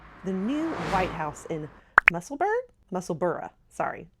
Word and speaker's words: Musselburgh: new White House in Musselburgh, sorry. Us Americans say Berg, they say Borough.